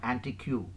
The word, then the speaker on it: antique: It's not antique, it's antique, and followed by boutique, physique, and finally the draft.